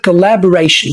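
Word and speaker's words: cooperation: مثلا سجست الكلمه الاخيره وهي كبريشن وخلي بالك ان هي اسم ومعناها التعاون والسترس موجود على الجزء التالت من الكلمه اللي هو راي فبنقولش التعاونقوللك مثلا يعني نجاح فارقنا بيعتمد على التعاون الجيد ما بيننا.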